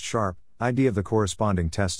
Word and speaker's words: SHRP: Users can click or hover the cursor on any marker on the map to see the state code and SHRP, pronounced sharp, ID of the corresponding test section.